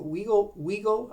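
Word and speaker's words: Wigle: From Detroit, the Detroit Colored team came to Windsor, to Weagle, I think it's pronounced W-I-G-L-E Park, and they performed before packed houses of people.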